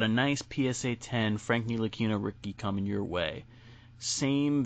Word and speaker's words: Ntilikina: In that draft, where we drafted Frank the Tank, I can't pronounce his last name. He needs to go. Ntilikina?